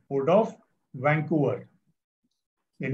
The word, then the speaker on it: Vancouver: Spelling देख लो अच्छे से और प्रोनाउंसिएशन देख लो मैं कैसे कर रहा हूं. Port of वैंकूवर.